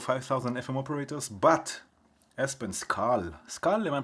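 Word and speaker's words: Skål: No, I like the idea of 5,000 FM operators, but Espen, Skal. Skal, am I pronouncing it correctly? Skal.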